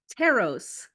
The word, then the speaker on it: Taros: name how do you how do you pronounce that teros teros okay so I did say it right I just want to